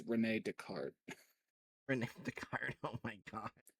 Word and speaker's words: Descartes: I find it funny, like I went to see, like Yeah, butchering I think this guy's name is actually pronounced Rene Descartes, Rene Descartes.